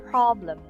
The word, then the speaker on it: problem: So the intonation, so the stress is on the first syllable, problem, problem, problem. And here's the schwa sound.